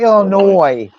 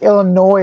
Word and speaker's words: Illinois: think some people pronounce the S and other people don't. I think it's technically Illinois. Like annoy you. Like Illinois annoys you.